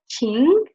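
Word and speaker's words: 情: And with heart, it will get the second tone, so it will be pronounced as Qing, and it will mean to feel, like feeling, emotion.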